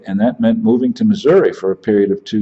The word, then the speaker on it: Missouri: he certainly didn't like Missouri I pronounced the name of the state wrong as a matter of fact putting the accent on the first syllable instead of the second one calling it misery and it's funny after